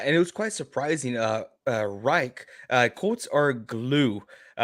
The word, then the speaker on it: Reich: It's Reich.